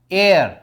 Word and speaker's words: heir: एक मैंने आपको बताया इसके कोई बच्चे नहीं है, कोई एयर नहीं है इसका, HEIR, एयर, एयर होती है इसकी प्रोनाउंसिएशन।